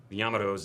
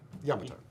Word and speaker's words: Yamato: the research, and we still say it correctly. Yamato. Yamato. It is an Americanization to say Yamato. There's nothing wrong with it, but we're trying to say it the way that it would be pronounced in Japan.